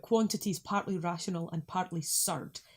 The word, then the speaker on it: surd: So that first dates from 1551, talking about quantities partly rational and partly surd. There it's spelled S-U-R-D-E, but that makes the same sound.